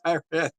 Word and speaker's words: Tyran: I'm butchering the fuck out of your name. Tyran is the pronunciation.